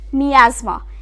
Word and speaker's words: miasma: in this continuation is miasma mi a SMA now how about saying